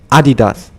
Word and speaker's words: Adidas: add adidus you say adidus I thought you said adidus or something like this but yeah in German it's adidas which is technically the correct way to say it.